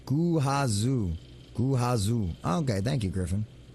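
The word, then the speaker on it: Gehazi: For what it's worth, Ghazi is pronounced Guhazu. Guhazu.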